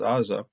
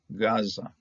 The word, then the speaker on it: Gaza: AA of Gaza okay now if we didn't know anything about the ga we'd be pronouncing this thing as AA but it's the Gan lets us understand and the Sean the Greek version understood as such this is a g okay Gaza okay and I always